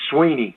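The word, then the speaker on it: Swinney: pronunciations of that and it's Sweeney as in just like e e so I have no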